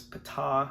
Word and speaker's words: Ptah: the P so it's Pata I suppose um I had an equal number of Google search results that told me uh the P was silent as I did once